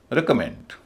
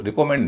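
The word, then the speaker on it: recommend: ऐसे ही काम के दो शब्द हैं रिकमेंड। रेमेंड इसमें तीसरे हिस्से पर स्ट्रेस है और पहले पर है। इसको रिकमेंड नहीं कहेंगे। रेकमेंड दूसरे हिस्से पर स्ट्रेस नहीं है।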